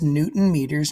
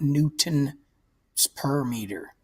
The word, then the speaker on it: newton meter: is called 200 joules we pronounce this Newton meters not Newton per meter an imperial it is